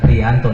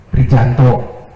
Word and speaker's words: Prijanto: Bukan Prianto, nulisnya Prijanto. Dibacanya jangan, karena saya sesuai dengan apa yang diajarkan saja. Kalau yang begitu tuh dibacanya J, bukan Y. Prijanto.